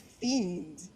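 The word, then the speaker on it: fjende: The word for enemy is fiend. And I'm like, fiend? I love that. I love that. That's the word for enemy. that's how you said like it's spelled differently but that's how you pronounce it.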